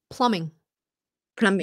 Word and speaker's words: plumbing: try to pronounce it no it's Plumbing the B is silent you don't even you know hunger you don't it's Plumbing Plumbing yep that's it right